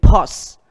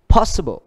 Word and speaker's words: possible: Ví dụ như cái từ possible, nó âm nhấn ở chữ possible, possible, possible, possible.